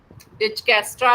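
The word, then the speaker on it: Dijkstra: डिजेक्ट्रा एंड बेलनफोर्ड algorithm डिचकेस्ट्रा भी बोलते हैं राइट तो समटाइ्स वो जे को साइलेंट या के को साइलेंट किस तरह से वो करते हैं तो दैट इज द प्रोनाउंसिएशन इसका तो डिस्कस्ट्रा बोल रहे हो या जैसे आप उसको प्रोनाउंस करना चाहते सो इट सॉल्व जो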